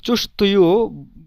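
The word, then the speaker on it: чувствую: তো চুস্তবয়, চুস্তবয়, এখানে এই যে চুস্তবয়, এটা কিন্তু ডাইরেক্ট চুস্তয়ু বলবেন না, চুস্তবয়। এখানে এই যে ভে, এই তের পরে যে ভে, এটার উচ্চারণ একেবারে সফট হবে, কিন্তু উচ্চারণটা চুস্তভুয় এভাবে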